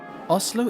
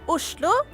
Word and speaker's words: Oslo: Oslo is Norway's capital city, which was founded over 1,000 years ago. In Norwegian, it's pronounced, Oslo. or if you're posh, Oslo.